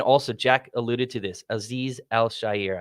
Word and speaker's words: Azeez Al-Shaair: Azeez Al-Shaair, I believe is how you pronounce it.